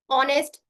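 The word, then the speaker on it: honest: आपको बताया था कि जब भी अगर एच शुरुआत में आता है या फिर एच किसी वॉल के पहले आता है तो उसका उच्चारण हम नहीं करते जैसे आवर ऑनेस्ट एयर वैकल rhyme गोस्ट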